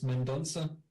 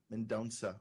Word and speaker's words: Mendonca: guest is Miguel menot Mena how do you pronounce that Miguel it's mendonsa mendonsa okay Miguel mandans is an Angelo aoran writer